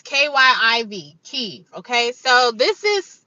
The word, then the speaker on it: Kyiv: How to pronounce Kiev? Kiev. It's Kiev. Kiev. It's Kyiv.